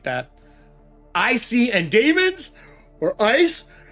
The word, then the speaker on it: ICE: Icy and Daemons, or Ice, Intruder countermeasures pronounced as ICE, and AI personas can attack demons, utility AI, programs, and malware.